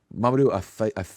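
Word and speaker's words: Mamoudou Athie: The main people in this, Zenaia, Arbor Patinson, uh, Madu Ai, is how you say his name, Alana Hay, who's been in I feel like everything lately.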